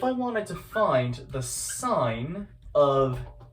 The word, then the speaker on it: sine: The sine of A, here's what I mean, the sine, which is sometimes abbreviated with SIN, it's not pronounced sin, it's still pronounced sine, that would equal what's called the opposite over the hypotenuse.